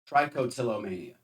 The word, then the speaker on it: trichotillomania: Trichotillomania. Trichot. I'll trust that. Mhm. That's how it's pronounced.